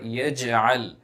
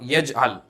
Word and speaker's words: يجعل: Now in this verse, focus on the qalqala which will be pronounced in the word yaj'al. It will be yaj'al, not yaj'al. Yaj'al, doubling sound effect will come into picture.